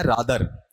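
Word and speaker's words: rather: अक्सर मैंने इंग्लिश के स्कॉलर्स को पढ़ते हुए देखा रादर, जबकि रादर नहीं है। बताओ ये क्या है, रेदर, ठीक है।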